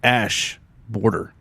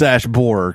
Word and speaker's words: Ash Borer: Ash Borer, but it's not border or hoarder, horror. What I don't know how to say it. It's not hoarder, it's horror.